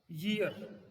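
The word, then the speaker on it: year: ये जो ईयर है कुछ लोग इसको ईयर बोलते हैं। क्या बोलते हैं? ईयर। ये ईयर नहीं होता है, ये होता है ईयर। क्या होता है? ईयर। तो इसका प्रोनाउंसिएशन जी से चालू होता है।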